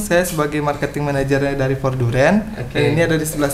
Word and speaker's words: Voordurend: Nama brandnya adalah Forduren. Nah, ini benar salah satu. Benar nggak cara pengucapannya? Benar nggak? Benar.